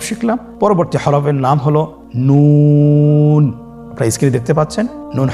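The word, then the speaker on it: ن: আপনারা জিহ্বার আগাটা তার বরাবর উপরে তালুর সঙ্গে লাগিয়ে উচ্চারণ করুন এবং আমার সাথে বলুন নুন। আবার বলুন নুন।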